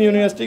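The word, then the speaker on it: university: साथ आ लगता है लेकिन यूनिवर्सिटी का साउंड यहां पर यू लग रहा है यू या या वल नहीं होता है ठीक है य सर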